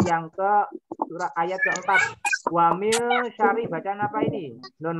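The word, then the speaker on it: وَمِن: Nah, wamil nggak boleh dibaca wamin syari, nggak boleh, harus dibaca ikhfa atau samar. Bacanya wamil gitu ya, nggak boleh dibaca wamin, tapi harus dibaca samar.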